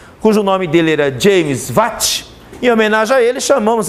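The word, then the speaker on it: watt: wat escreve assim tá mas pronuncia-se wat Ok o símbolo é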